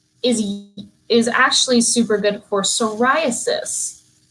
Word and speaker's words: psoriasis: So sunflower oil is actually super good for psoriasis. Now, psoriasis has a silent P in it.